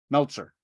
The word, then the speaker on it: Meltzer: both directions okay my name rhymes with Alka-Seltzer all right Meltzer you're not the first